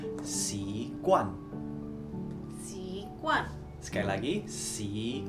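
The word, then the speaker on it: 习惯: Jadi habit di Mandarin itu bacanya si kuan.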